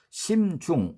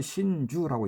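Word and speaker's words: 心中: 심중은 마음 심자에 가운데 중자를 써서 심중, 우리가 읽던 심중인데 일본말로 신주라고 읽습니다.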